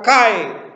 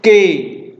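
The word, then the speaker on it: καί: kata ke atau Kai cara bacanya Boleh macam-macam ya bisa dibaca k bisa dibaca ke ya Kalau saudara mau menggunakan cara baca easmian itu saudara akan mengucapkan Kai tapi kalau saudara mengucapkan dengan cara modern itu ke ya Tergantung saudara mau pakai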